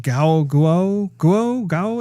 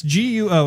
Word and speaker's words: Guo: Tina, I think her last name is pronounced Guo. It's Guo.